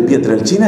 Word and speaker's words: Pietrelcina: del Padre Pío de pietr El China eso se escribe pietrelcina con c si no conoces la historia del Padre Pío de pietrelcina se escribe y se pronuncia pietr el China si no conoces esa